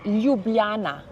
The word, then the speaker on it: Ljubljana: for our viewers is if you help us pronounce the capital city of Slovenia because it is quite hard. So it's Ljubljana.